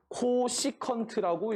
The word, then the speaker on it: 코시컨트: 그랬을 때 우리가 이 사인 세타분의 1을 앞으로 CSC 세타라고 하고 얘를 읽을 때는 뭐라고 읽으실 거냐면 코시컨트라고 읽을 거라는 거예요.